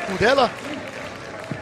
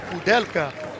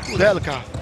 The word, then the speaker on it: Kudelka: Um bloqueio acontece ali, chega por baixo o Thomas Kudela. Kudelka. Corrigindo o nome da fera. Aí o número 9 da República Tcheca. Kudela é pronúncia de nome francês. Kudelka, o tcheco.